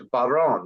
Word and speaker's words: Barone: And today we have the honor of being with Alex, it's Barone, right? That's the correct That's right.